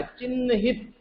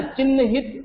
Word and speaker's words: चिन्हित: देखो, ह के अंदर न बैठा है, आधा बैठा है न। ध्यान से देखो उसको, सभी बच्चे देखेंगे। यस सर। उसमें न आधा बैठा है, इसलिए उसको न का उच्चारण आएगा चिन्हित, चिन्ह चिन्ह चिन्ह, है ना, चिन्हित ऐसा बोलेंगे इसको, ठीक है।